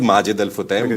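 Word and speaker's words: Majid Al Futtaim: Majid alutam or it is Majid the proper pronunciation is Majid al Futam but since I've yeah my name is Majid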